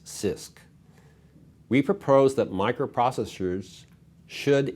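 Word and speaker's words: CISC: complex instruction set computers abbreviated c-i-s-c and pronounce sisk we propose that microprocessors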